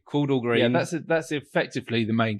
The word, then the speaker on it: Chordal Green: Called, I want to make sure I pronounce it correctly. Yeah. Chordal Green. Chordal Green.